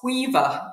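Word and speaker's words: Caoimhe: Even I get some of them wrong, but there's things like COI, BHE, and it's Quiva, but just to look at it, you're like, what is that?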